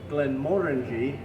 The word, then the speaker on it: Glenmorangie: a winter's tale well glenmorangie is one of the my favorite highland distilleries and it's actually pronounced with the emphasis on the second syllable glenmorangie and uh it comes